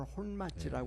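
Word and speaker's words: 本町: 그 이제 일본식 발음으로는 혼마지라고 그래요. 네.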